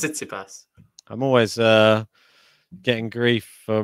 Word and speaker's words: Tsitsipas: Sissipas. No, it's not like that. It's Tsitsipas.